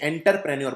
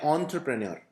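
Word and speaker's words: entrepreneur: तो इसका थोड़ा सा उच्चारण भी डिफिकल्ट है, कई लोग इसे एंटरप्रेन्योर बोलते हैं। तो एंटर नहीं है, ध्यान से देखिए, ऑन्ट्र है, तो आपको बोलना है ऑन्ट्रप्रेन्योर। तो इसका उच्चारण इस तरह से किया जाता है।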